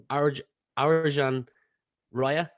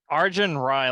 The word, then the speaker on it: Arjun Rai: to be joined by Arjan Raya. Did I pronounce that correct? Argent Rye, like Argentina without the Tina.